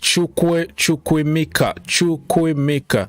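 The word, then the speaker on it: Chukwuemeka: He said to pronounce it. It's Chukwemeka.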